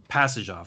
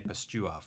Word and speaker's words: Pastujov: Pastujov. Thanks. I was going to say Pastuov, but that was close.